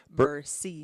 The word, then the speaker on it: Bursey: And our guests are Trinity Bursey. Did I pronounce that right? Bursey.